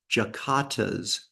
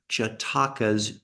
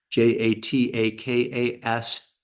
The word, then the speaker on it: jatakas: wasn't sure if they were called jatakas or jatas and um for the record they are j jatakas j a t a k s jatakas and